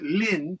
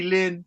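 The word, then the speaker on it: 林: study Chinese because the the Chinese characters here is Lin L I N and it means Forest so that's Lin but in Japanese it's Mori so Chinese say Lynn Japanese say Morty and you can see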